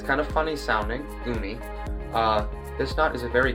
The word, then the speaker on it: Uni: For the third knot, I'm going to be tying the Umi knot. The Umi knot is spelled U-N-I. It's kind of funny sounding, Umi.